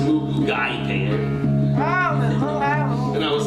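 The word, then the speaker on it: moo goo gai pan: like, I don't want to offend them by mispronouncing the names of the food. Mugu Gay Pan. I was like, we all started cracking up. He said, actually, it's pronounced Mugu Gai Pan.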